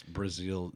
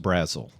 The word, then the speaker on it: Brazeal: correct people it's not Brazil the country It's Brazil z-e-a-l and it may be the first time they've spelled it like that so of course get out of your nerves yeah usually it's uh pronounced Brazil so Mark Brazil yeah yeah uh interesting uh